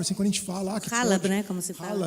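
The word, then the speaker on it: حلب: Halab, né, como se fala. Halab.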